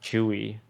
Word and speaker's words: Tzuyu: Pronounced Chewy after the Twice member. Is it Chewy?